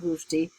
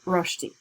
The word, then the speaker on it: Salman Rushdie: fantastic job introducing Salman Rushdie. It's important to be able to say his last name correctly because a lot of people would say Rushdie. So he's Rushdie.